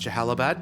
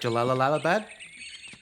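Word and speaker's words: Jalalabad: Like that he pronounced Jahalabad because I never knew how to say it, and even last week we were both like Jalalalabad. So Jahalabad is it.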